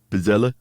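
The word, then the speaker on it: pizzelle: or pel P pizel I thought pizel yeah you got say it like like that yeah it's an Italian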